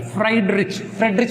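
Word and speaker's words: Friedrich: सो बट फ्रेडरिच, spelling कैसे करेंगे, फ्राइड, तला हुआ, रिच ढंग से तला हुआ, अच्छे प्रकार से नाम याद रखने के लिए फ्रेडरिच बोलेंगे, फ्राइड नहीं बोलेंगे।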